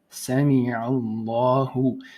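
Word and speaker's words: سمع الله: So lahu, Sami Allahu. Now you may want, so obviously the double A is because there's a stretch, la, right? Otherwise it would be la. So Sami Allahu.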